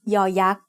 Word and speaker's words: ยอยักษ์: sound of a syllable, it makes the sound y, just like the letter Y in yes. As the final sound of a syllable, it adds the sound e that blends with the vowel, just like the Y at the end of the words say and boy.